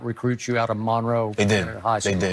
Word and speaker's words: Monroe: North Central North Louisiana Monroe right that's how you say it Monroe cuz when I was there I thought but they say Monro right mon Monro so when you were